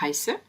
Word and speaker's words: heiße: Donc, ich heiße. On retrouve le SZ qu'on a vu dans la première vidéo, qui remplace deux S. Bien prononcer le H de ich heiße et le H de hallo.